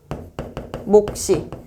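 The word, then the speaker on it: 몫이: 첫소리로 옮겨 발음하게 되는데 아까 그거 목시 그러면은 목시라고 발음하게 된다. 이럴 때 시옷은 된 소리로 발음한다.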